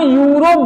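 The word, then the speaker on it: Europe: अगर हम कहें यूरोप, इसे हम यूरोप बोलते हैं, लेकिन स्पेलिंग में ई से स्टार्ट है, तो अगर हम अंग्रेजी वर्णमाला से चलते तो इसके पहले एन आना चाहिए था, लेकिन ये सरासर गलत हो जाता।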